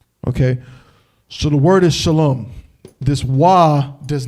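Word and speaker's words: שלום: and fake there's no why the word is shalom it's just him saying it's a shah allah and a mob we just read it from a root in in this ancient right shalom straight like that all right so that that's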